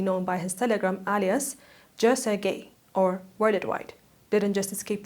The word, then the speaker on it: Jeonsegye: Today, the man they call Worldwide, that's his name, Worldwide, or as South Koreans pronounce his name, Joe Seong-gae, has finally run out of runway.